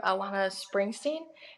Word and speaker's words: Alana Springsteen: And then I've also, for newer artists, I've been listening to Elena, or Alana, how do you pronounce her name? Alana Springsteen? Yes, Yes.